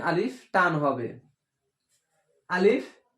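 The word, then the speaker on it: ألف: আলিফ উচ্চারণ করতে হলে মুখ বন্ধ হবে না। আলিফ এইভাবে হবে না, আলিফ বাতাস বের হবে।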